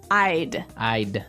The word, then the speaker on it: I'd: You'll notice that we don't say I would recommend. Right. We use the contraction I'. I'd I'd recommend.